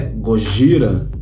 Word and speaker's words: Gojira: de 1954 na verdade no Japão seu nome Inicial é gojira algo como uma junção outras palavras Gorila e baleia no ocidente a sonoridade da pronúncia de goji era levou as pessoas a pronunciarem Godzilla e que deu um